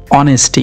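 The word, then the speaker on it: honesty: सबसे पहले कहानी को टाइटल दिया आप लोगों ने ऑनेस्टी इज the best policy. ऑनेस्टी, यहाँ H साइलेंट रखते हैं हम लोग।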